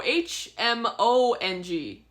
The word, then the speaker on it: Hmong: Oh, Hmong is how you spell it. But you don't pronounce the H.